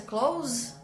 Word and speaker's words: clothes: Lembra, Bruna, da pronúncia? Close. Close é uma pronúncia bizarra, né? Parece com fechar.